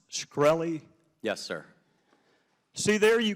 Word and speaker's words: Shkreli: Carolina uh thank you Mr chairman is it pronounced scy yes sir see there you can answer some